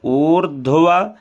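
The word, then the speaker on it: ऊर्ध्व: ओम उर्ध्व उर्ध्व केश उर्ध्व उ बड़ा है फिर इसके बाद धा है आधा पहले र का उच्चारण होगा फिर धा का होगा फिर व का उच्चारण होगा उर्ध्व केश विरूपाक्ष विरूपाक्ष मास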